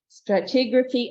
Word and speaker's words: stratigraphy: She loved the teaching, geology, mineralogy, petrology, stratigraphy, that's how you pronounce it, stratigraphy and paleontology.